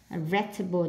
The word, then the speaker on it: vegetable: Selection nhấn âm 2, vegetable nhấn âm 1, display nhấn âm 2,